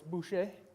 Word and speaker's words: Boucher: It's French, so it's Boucher.